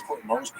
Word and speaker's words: Port Moresby: I said it was Port Moresby, which is silly because it's spelled exactly as it sounds.